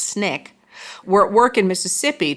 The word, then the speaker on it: SNCC: And by 1961, activists with the Student Nonviolent Coordinating Committee, or SNCC, pronounced Snick, were at work in Mississippi to promote voter registration.